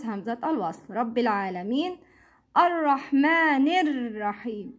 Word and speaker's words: الرحمن الرحيم: Ar-Rahmanir Rahim. It's not Ar-Rahmani Ar-Rahim. Don't pronounce Hamzat Al-Wasl.